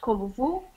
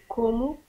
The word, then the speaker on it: como: you read it oh so not Kovu but como whoa o como voy